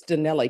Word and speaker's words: Donnelly: It's not Donnell Smith. Donnelly Smith. It's Donnelly, correct?